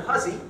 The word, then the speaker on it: Hussey: So my other favorite one of a kind is in Windsor, Maine, where Harlan Huzzy, looks like Hussey, he was a German immigrant, pronounced it Huzzy.